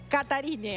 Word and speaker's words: Katharine: viendo cómo se pronuncia katarine meredit catarine catarine Sí con tilder la primera a se pronunciaría Pero y la e y la th como una t es difícil pero es catarine algo así catarine meredit